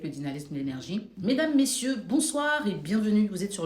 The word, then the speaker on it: bonsoir: mesdames messieurs bonsoir bonsoir parce qu'il y a un r à la fin qui doit être prononcé bonsoir C'est pas bonsoir dans le langage basique